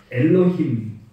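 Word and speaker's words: אלהים: 자, 요거를 그대로 히브리어 글자로 그대로 발음을 읽으면 엘로힘 이렇게 됩니다.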